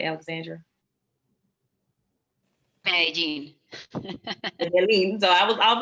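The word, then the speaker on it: Medellín: Did I pronounce that correctly, Alexandra? Medellin.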